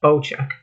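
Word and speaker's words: Bocek: The new Bowcheck, pronounced Bowcheck, Compound Bow is a precision marksman weapon that rewards a skilled and confident hand.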